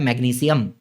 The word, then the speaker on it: मैग्नीशियम: वैसे ना मैग्नीशियम बोलते हैं अपन, लेकिन करेक्ट प्रोनाउंसिएशन क्या होता है? मैग्नीशियम, कैल्शियम, पोटेशियम, सियम होता है, शियम नहीं होता है।